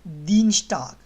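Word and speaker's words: Dienstag: दीनस्टाग, ये एस टी जब भी साथ मिलता है तो स्टाग प्रोनाउंस होता है। जैसे हमारे उर्दू में शीन, टे, अलिफ और गाफ की जो प्रोनाउंसिएशन निकली ना, स्टाग, तो दीनस्टाग।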